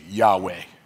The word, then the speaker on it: Yahweh: Yud, He, Vav, He, and we say Yahweh, right? We say Yahweh. But it's like the inhale is, that's the Yah. The exhale is, way, Yah, way, Yah, way.